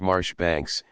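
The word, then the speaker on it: Marjoribanks: beum should be beum Majora Banks Marsh Banks and Powell should always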